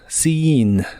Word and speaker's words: seen: en inglés es seen la doble e de es esta palabra se pronuncia como una I larga sin sin en este tiempo